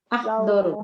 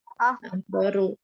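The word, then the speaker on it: أخضر: Di sana bacanya apa Ibu? Roti launuha Nah, doru. Akadar. Akhdar. Ru. Saya roti Akhdaru. launuha Akdaru.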